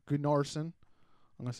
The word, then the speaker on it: Gunnarsson: was followed by Cardiff's 2 goals by Aaron Goodnarsson. Right? Gunnarsson? Yeah, Gunnarsson. Goodnarsson.